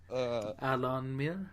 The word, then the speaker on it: Alan Muir: No, it's the Allen Muir. It's like, say it like the Alamo. Alan Muir.